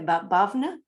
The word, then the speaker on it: Bhavna: thank you you're welcome i think we have bhavna i may have said it wrong sorry no no that's the right uh way to call me and hillary this was